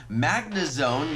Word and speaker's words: Magnezone: gonna see a perfect magmar in this video Magnezone yes I did say it correctly and that's